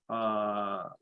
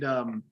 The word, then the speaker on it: Taika: Now, I am a big fan of Taika Waititi. He directs. He did Taco Waititi. Taika Waititi. Yeah, he did. Oh, I thought you said taco. No, Taika Waititi.